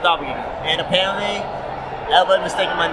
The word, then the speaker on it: Doppoganga: It's with an O, but it's pronounced Doppoganga.